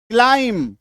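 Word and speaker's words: climb: एल आई एम बी क्लाइम टी एल आई एम क्लाइम ठीक है डब्ल्यू ओ एम बी वूम बी यू एम बी डम बी को काट दो है ना बी को पढ़ना नहीं है अब कहेंगे सर क्या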